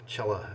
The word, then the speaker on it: Cella: But I discovered, much to my dismay, that the Cella balm that I have, Cella actually is the way you pronounce it, and it went bad after about a year.